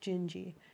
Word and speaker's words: Dindi: Later, after I was born, we found a Portuguese song, Jinji, but in Portuguese, the D is pronounced J, Dindi. But it sounds like Jinji, and Mm-hmm.